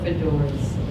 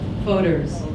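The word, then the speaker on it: Fodor's: The most exciting thing that happened right at the end of 2018 is, I don't know how to say it, is it Fodors or Fedors? Fodors.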